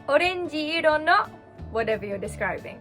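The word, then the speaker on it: オレンジ: Orenji. Orenji. So this is a frisbee on my head. In this case, you wouldn't say orenji-i to describe a word. You would say orenji iro no whatever you're describing.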